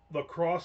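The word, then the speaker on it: LaCroix: going to ask Nick Lacrosse Seltzer is pronounced lacrosse because of some stupid town in Wisconsin exactly not because they're French.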